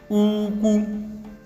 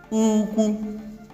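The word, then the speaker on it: úkwú: High, high. So the word should be pronounced this way. Uku. Uku.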